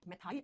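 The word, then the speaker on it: methyl: मेथाइल alcohol. इसी का दूसरा नाम क्या होता है? हिंदी में मेथिल अल्कोहल कहा जाता है। ठीक है? प्रोनाउंस मेथाइल किया जाता है इसको।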